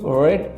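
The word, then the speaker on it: read: তুমি বইটি পড়েছিলে, ইউ রেড the book. এখানে একটা ব্যাপার আছে, রিড রেড রেড, আসলে উচ্চারণটা আলাদা কিন্তু বানানটা এক। তাহলে সাবজেক্ট, তারপর মূল ভার্বের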